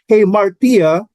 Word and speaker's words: hamartia: So in the New Testament, the Greek word hamartia, hamartia, is the pronunciation, is translated sin.